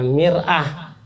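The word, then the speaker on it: مرآة: Mir'ah, kalau dibacanya mar'ah, perempuan, jadi beda baris saja, beda arti.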